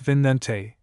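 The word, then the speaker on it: Vicente: Martin Alonzo Penzon took the Pinta and his brother Vincente, pronounced Vinente, took the Nenina.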